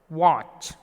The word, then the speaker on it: watch: Watch. T, letter T is silent here.